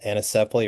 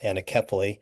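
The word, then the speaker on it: anencephaly: The child had a condition called anesley or some pronounce it anily.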